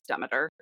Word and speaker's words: Demeter: She is the daughter of Demeter or Demeter, depending on who you are and how you want to pronounce it. I think the correct pronunciation is Demeter, which I don't like, but that's beside the point.